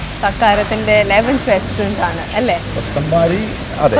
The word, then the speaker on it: Kothambari: Kothambari. Adhe. Kothambari. Okay, that's how it's pronounced.